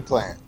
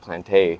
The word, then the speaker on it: Plante: we got plant that's how you pronounce that yeah I always thought it was like plantain no it's French Canadian oh okay my dad